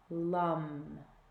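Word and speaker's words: लं: is the earth element which is lum-lum rhymes with thumb okay with me don't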